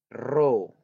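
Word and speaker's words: ρ: lambangnya seperti ini biasanya Ya Roh bacanya roh jadi ronja es batu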